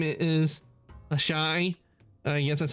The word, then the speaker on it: Ashai: My name is Ashai. Yes, that's how it's pronounced.